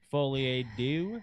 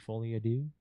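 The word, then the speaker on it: folie à deux: confirmed for joker two foliage is that how you say it alex what foley a dude foley adieu oh i've actually i didn't see that word that's french that means yeah like the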